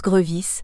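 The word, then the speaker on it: Grevisse: sans accent aigu et qu'il se prononce grevis avec un e mixte qui ne peut-être appelé caduc comme grevis le dit lui-même page 1087 quoi qu'on nomme le plus souvent à tort grevis ce gramérien Belge son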